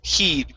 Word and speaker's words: he'd: Okay, and the only other word for you is the word he'd. Give me a long E here.